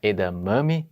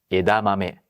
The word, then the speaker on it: edamame: na penúltima sílaba e a tendência do brasileiro é de colocar esse acento na penúltima sílaba não em japonês tem que ser tudo igual quando muito cantado modulado mais uma vez me Desc por favor edame muito bem não é edamame mas sim Ed mame pronuncie você também edamame Inclusive essa questão da